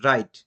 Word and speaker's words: wrong: এর জন্য আমরা আর দিয়ে উচ্চারণটা শুরু হলো এবং রাইট লিখলাম, ডব্লিউ আর আই T, right. W জায়গাতে সাইলেন্ট, কারণ আমাদের ফর্মুলাতে বলা ছিল ডব্লিউর পরে